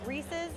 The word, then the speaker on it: Reese's: And to settle it once and for all, it's Reese's Peanut Butter Cups. Not Reese's. Reese's. Oh my god, I've been seeing it wrong! What could they even get here? Wow, I've been saying it wrong all my life! This is a disaster. So it's Reese's. Reese's Pieces. It does make sense because it rhymes better.